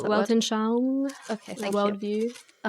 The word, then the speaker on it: Weltanschauung: The how do you pronounce that word? Weltanschauung, Okay, the thank you.